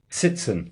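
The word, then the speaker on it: Tzitzon: When I meet those important people like Nick, how do you say it? Siten. Sitsen. Yeah. Like like Nick sits in.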